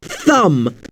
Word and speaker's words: thumb: I hurt my thumb yesterday. Yes, you've spelled the word correctly. Note how thumb is spelled t h u mb. This again is an example of the mb letter string.